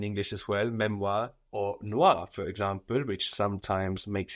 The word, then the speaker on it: noir: have a lot of French commercialized this is is spelled n o i r Noir black or maybe you've seen Le Shir